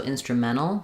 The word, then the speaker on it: instrumental: Um, they'll leave the T off. So, instrumental. They've been instrumental in helping. Um, you can do that as well. It's another correct pronunciation. Or if it's easier, use the T. Instrumental. Uh, native speakers of American English go back and forth and use both.